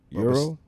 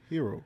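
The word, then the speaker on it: Herro: keep I would keep hero though Euro huh hero oh now now you're gonna say his name right but a few years ago was Tyler Euro the only hero I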